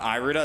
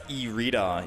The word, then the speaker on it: Irida: have of Tyranitar oh it's not Aida it's irida irida someone in chat told me arida still the proper pronunciation all right e re